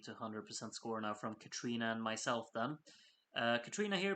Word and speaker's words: Katrina: Katriona, no, because Katrina has told me that you're supposed to pronounce it Katrina, so sit down, Darren. I know what I'm doing. Katrina herself said it's pronounced Katrina, so I'm gonna keep at it.